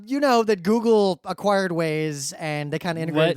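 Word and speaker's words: Waze: oh are they trying to be cute like w a y s but they spelled it w but pronounce it the same I guess it just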